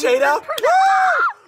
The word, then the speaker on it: Shada: Oh my god, it's Shada. We've been pronouncing it wrong this whole time. We've been saying Jeremy Shada and it's Shada.